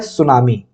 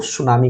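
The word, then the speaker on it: tsunami: सु में टी यहां पर साइलेंट है।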